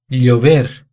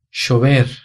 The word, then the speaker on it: llover: Na Espanha, a pronúncia dessas palavras seria bombilla, calle, llover.